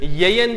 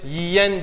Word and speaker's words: yiyen: Araya kaynaştırma önsüzü girdiğinde siz bu sözcüğü yeyen diye mi telaffuz edersiniz? Yoksa yemeğini böyle yiyen diye mi telaffuz edersiniz? Gördüğünüz gibi burada Y harfimiz yemek sözcüğünde buradaki E'yi İ'ye dönüştürdü, daralttı.